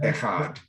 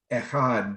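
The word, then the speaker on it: אחד: our sages said that we must draw out the word echad and you're supposed to draw it out on the last syllable which is really hard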